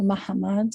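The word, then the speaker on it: Mahamad: right so you mentioned the word mmad or Mahammad as it's pronounced in in Portuguese Hebrew and this was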